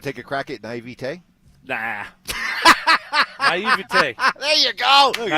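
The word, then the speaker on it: naïveté: Naivete.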